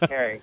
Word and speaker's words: Kering: So it's pronounced Kering.